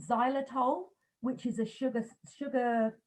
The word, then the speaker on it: xylitol: plant right so um there's also something called xylitol which is a sugar sugar um a sugar